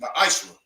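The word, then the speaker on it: מעשר: Means 10th in Hebrew, and is pronounced ma'ashra.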